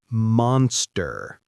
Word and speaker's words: monster: Monster. It sounds like monster, not moon. The O is short like in hot.